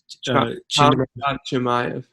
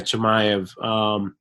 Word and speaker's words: Chimaev: Nicholas Dalby, Francisco Trinaldo, Kamaz, how do you pronounce it? Chimaev. Yeah, Chimaev.